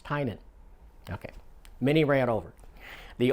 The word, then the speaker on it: Tynion: some interviews with him it's Titan it's not tinian it's not tiny and it's tying on think t-i-n-e-u-hn that's how you pronounce it tying on I mean yeah I